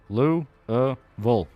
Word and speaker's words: Louisville: That's how That's how you say it. Louville.